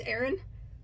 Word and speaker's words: Aran: I got told I say it wrong. I say Aran, but I guess apparently it's Aran.